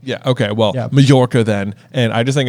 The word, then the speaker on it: Majorca: Jim Dale says it as Majorca. Does he really? I think so. Okay. That's then maybe it has double pronunciation, but I think it's in Spain and it's a soft J. Yeah. Okay. Well, Majorca then, and I just